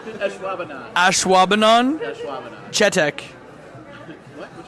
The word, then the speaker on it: Ashwaubenon: Ashinawabe? Nope. Ashwaubenon.